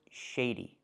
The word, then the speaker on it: shady: The first word is pronounced shady with a long A sound, like say and play, shay, shady.